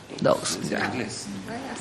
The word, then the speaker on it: Dawes: ¿Cómo se pronuncia? Dawes.